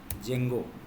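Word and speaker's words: Django: क्या पढ़ना पड़ता है जेंगो नाम सुना है जेंगो इसको देखो इसको भी जेंगो डींगो लिखते हैं लेकिन पढ़ते जेंगो है मतलब डी साइलेंट है और एक होता है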